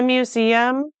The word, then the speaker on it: Museum: Now notice Museum is pronounced much differently in German. Instead of mu, we're saying mu. Mu, ze, So it says 3 syllables. Museum. In English, we say museum. It's more like 2 syllables.